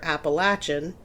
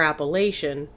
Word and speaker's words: Appalachian: Americans called the appalaches it's pronounced two different ways depending on where you live either appalachin if you're from the south or Appalachian if you're from kind